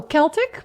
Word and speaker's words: Celtic: It's a hard C for Oh, Celtic because English doesn't didn't bother changing the spelling.